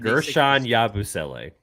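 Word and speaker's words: Guerschon Yabusele: I'm not going to be able to pronounce who the Philadelphia 76ers. Gershon Yabusele. It's not hard. Like Yabusele. Gershon Yabusele.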